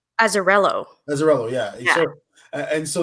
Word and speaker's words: Azzarello: He did the original book, but is that how you pronounce his name? Azzarello.